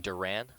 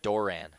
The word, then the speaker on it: Doran: and - so it's I've been saying Duran it's door-in-door in Durant Doran Durant maybe I'm just abbreviating in that first syllable a little too much Doran Doran Doran Doran